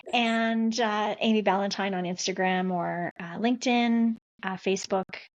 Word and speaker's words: Ballantyne: It sounds like Valentine, but it's spelled way different. And Amy Ballantyne on Instagram or LinkedIn, Facebook.